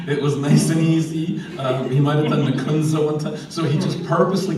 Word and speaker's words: Nicieza: page kept telling people the wrong way to pronounce my name so it was me cheesy it was nice and easy um so he just purposely kept doing it